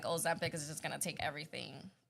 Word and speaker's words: Ozempic: Ozempic. Ozempic.